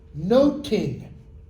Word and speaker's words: nothing: Or, possibly, The Elizabethan pronunciation of that word, noting.